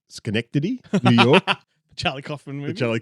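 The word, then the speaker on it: Synecdoche, New York: No, sorry, I'm going to pronounce it correctly. Schenectady, New York.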